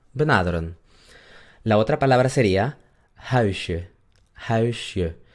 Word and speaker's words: huisje: La otra palabra sería huisje, huisje. ¿Se dan cuenta que no digo huisje? Es huisje, je, huisje.